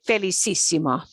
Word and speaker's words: felicísimo: It still gets an S sound, okay? Felicissimo.